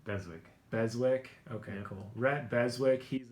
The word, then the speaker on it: Beswick: how do you say your last name beswick beswick okay cool rhett beswick he's a sales manager